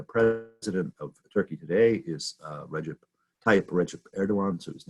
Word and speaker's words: Recep: And then the C in his first name, Recep, is pronounced like a ch, j rather.